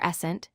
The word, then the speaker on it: present: The word present can be a noun, pronounced as present, meaning a gift or a gift item.